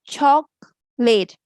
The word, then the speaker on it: chocolate: We have three syllables. Right? Listen to the sounds of syllable. We say choc- late. This is schwa and this is almost negligible. We are not saying a a o anything. We are simply saying chocolate. Chocolate.